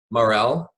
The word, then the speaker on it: Marell: And is it Marell? Yes, like the mushroom. Okay, Marell?